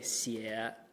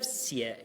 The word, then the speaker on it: 写: At the end of 写, you have to do a really gnarly cut. You have to stop speaking, basically stop pronouncing for a minute, so you can readjust your vocal register up to the top, or your voice up to the top of your register to drop.